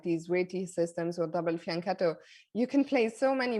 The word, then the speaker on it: fianchetto: for the longest time i said fianchetto i go to the world juniors in italy and suddenly everyone's shouting at no it's fiance okay so now i'm